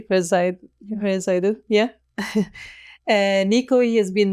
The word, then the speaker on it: Verzijden: I hope that I pronounce it correctly, Dutch way, Verzijden, yeah.